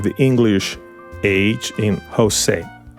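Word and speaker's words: José: the English age in Jose Jose but I'm going to give you a tip right here that's the easy pronunciation Jose the real pronunciation is like you are going to make a cat sound like that's the real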